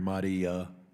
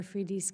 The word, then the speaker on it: Afridi: Shifting to Pakistan, any chance that the doctor who helped us, I believe his name is pronounced Dr. Ahmadi, is going to be released? We continue to raise Dr. Afridi's case.